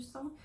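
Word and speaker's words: 사: chiffre 4 encore et ça se prononce sa est en fait on parle par chinois ça veut dire la mort donc c'est un chiffre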